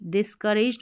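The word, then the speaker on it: discouraged: आगे है instead, instead of being, being का मतलब होना, बनना, इंस्टेड ऑफ के बजाय क्या होना, DIS dish, COU raised, डिस्करेज्ड मतलब निराश, डिस्करेज्ड निराश होना,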